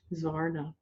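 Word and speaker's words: Xvarnah: So let's take a look first at this Varna, and I want you to know it's spelled X-V-A-R-N-A-H, Svarna.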